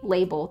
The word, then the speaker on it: Label: The Labelle link is clearly intended. Doesn't change the pronunciation of the name. Well, she has a different, she has a clothing line that's spelt differently. That's spelt like that. Which I think would be pronounced differently to her name. But I think then her name would still be Label.